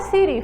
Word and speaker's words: siri: também a Siri palavra Siri Falem comigo sim olha só palavra Siri a sílaba tônica é a sílaba final em que Então essa é uma palavra oxítona Sem uma palavra oxítona terminada em i oi muito bem e